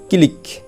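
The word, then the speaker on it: clique: তারপর দেখো ক্লিক, এই যে CLI ক্লিক, কিউ ইউ ই ক্লিক অর্থ ক্ষুদ্র দল।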